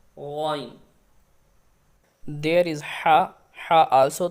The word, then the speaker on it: غ: وَمِن شَرِّ غَاسِقٍ Ghain. Ghain also throated letter. We pronounced from closest part of throat near the mouth. Ghain.